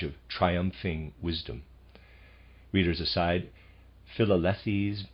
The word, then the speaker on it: Philalethes: Readers aside, Philalethes, possibly, I'm going to pronounce it that way, it's spelled Philalethes. Philalethes.